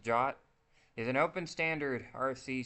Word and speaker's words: JWT: JSON web token pronounced jot is an open standard RFC 7519 that defines a compact and self-contained way for securely transmitting information between parties.